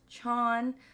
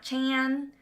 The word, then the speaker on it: Chon: hone in on like, okay, it's Chon, not Chan. I mean, you can say Chan, I'm still not going to be offended.